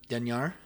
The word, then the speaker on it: Dinyar: We're missing out on Denyar. Did I say it right? Yep. I can't pronounce it in my mind, but It's Dinyar. Yep.